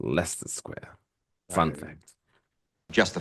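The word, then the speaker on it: Leicester: that place leer leester Square they always like liester Square no it's Lester Square it's pronounced Lester Square fun fact just the facts ma'am um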